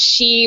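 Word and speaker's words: 死: It's a pun because in Japanese, C means is pronounced she, which means death.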